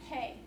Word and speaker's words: Pei: a gentleman by the name of I am pay pay is spelled pei and if you notice here he's